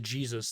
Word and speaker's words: Jesus: No, you gotta pronounce it Jesus. That's much more applicable.